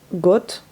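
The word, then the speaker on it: год: god l'année on dit on écrit god mais ça se prononce got donc ça va être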